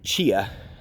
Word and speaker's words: Chia: up it's a Dr Chia and that's right it's spelled just like the chia seeds and his son had